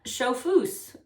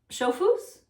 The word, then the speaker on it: chauffeuse: Chauffeuse. Chauffeuse? A masseuse, a chauffeuse. Yeah, because it's E-U-S-E. Yeah. Okay. So if I am a chauffeur, I'm a chauffeuse. Chauffeuse.